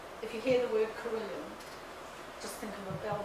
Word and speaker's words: carillon: A carillon, which should be pronounced carillon, is a bell tower.